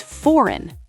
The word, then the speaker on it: foreign: Wait, I definitely pronounce foreign wrong. Then I've been saying for a lot of people do the correct pronunciation is foreign. Two syllables and that G is completely silent.